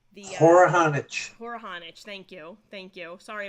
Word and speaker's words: Horohonich: you i want to again get the correct pronunciation for your um for your name poor honich thank you thank you sorry about that i